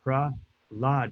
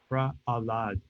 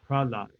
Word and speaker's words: Prahlad: So it's not offensive, it's not bad, but the proper way is Prahlad, not Prahalada.